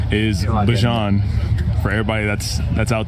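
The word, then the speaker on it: Bijan: How you pronounce my name is Bjon for everybody that's that's out there. Um I know a lot of people say Bjon but it's let me hear it for you.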